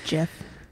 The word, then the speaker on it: GIF: out of that all right good luck it's Jeff it's GIF ch ch SP anyways yes um